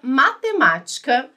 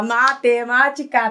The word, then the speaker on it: matemática: a gente estava senta matemática tá então acertou oh explicação tranquilo né tranquilo porque assim é proparoxítona porque tem a anti penúltima sílaba mais forte então a gente conta